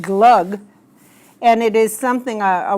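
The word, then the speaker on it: glögg: I'm not sure exactly how it's pronounced in German, but in Scandinavian countries, we usually pronounced it glug.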